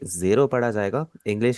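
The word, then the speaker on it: ゼロ: Zero को हम Japanese में क्या कहते हैं, रे, मारू, जेरो। और यहाँ पर आप सुन रहे होंगे मैं इसे जीरो नहीं कह रहा, मैं इसे जेरो कह रहा हूँ।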